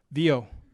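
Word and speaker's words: Viau: So this says, I don't know how you pronounce that. V-I-A-U. What do you say? V-I-A-U. Vio? Vio. Vio. Yeah. Oh, no. Vio.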